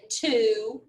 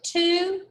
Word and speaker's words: two: pronounced ooh as in to or do or who all right so when you read to you have to remember to not pronounce the w so act like he's